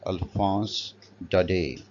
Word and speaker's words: Alphonse Daudet: It would be pronounced as Alphonse Daudet.